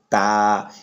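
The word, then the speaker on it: تاء: তারপর যে হরফটি আছে এটার নাম হচ্ছে তা, এটা হচ্ছে জিহ্বার আগা সামনে উপর দুই দাঁতের গোড়ার সঙ্গে লাগাইয়া এই হরফটি উচ্চারণ হয় তা।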